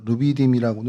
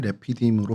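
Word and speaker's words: רפידים: 히브리어로 레피이라고 발음을 합니다. 저희가 루비디이라고는 하는데 정확히 발음이 레피디으로 발음을 하고요.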